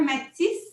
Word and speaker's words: Mattis: Mathis, c'est bien comme ça qu'on le prononce. Sois la Oui, bienvenue Mathis.